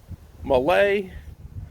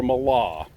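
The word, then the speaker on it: Mahle: uh i say mala i'll go with the german pronunciation but anyway the what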